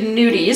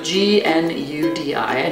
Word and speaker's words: gnudi: So actually gnudis, so G-N-U-D-I, gnudi. Oh, it's not N-U-D. No, there's always that silent letter to throw you off.